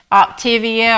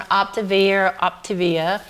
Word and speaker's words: Optavia: She talked about Optivia or Optavia. I'm not sure how to say it. Optavia. Optavia.